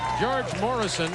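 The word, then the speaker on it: Gheorghe Mureșan: Thank you, George Morrison. I understand is how he pronounces his name.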